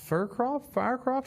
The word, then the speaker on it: Fircroft: consultant for, is it Fircroft? How do you say the name there, Juan? Fircroft, but that is correct. I was going to say Fircroft, but I was like, wait, there's no E.